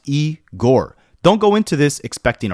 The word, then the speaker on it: Igor: This is Eigore, pronounced E Gore.